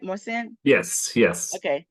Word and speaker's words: Marcin: I have maren am I saying that right maren yes yes okay how do you say your